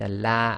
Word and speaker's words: Allah: again this will be pronounce it with a la as in the name uh as in the word lamb in English so again alhamd you